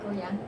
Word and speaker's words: Goya: it true, you're the youngest recipient, if I pronounced this correctly, is it Goya? Yes, Goya.